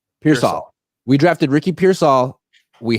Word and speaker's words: Pearsall: How do you pronounce his last name? Ricky Pearsall? Ricky Pearsall. Pearsall.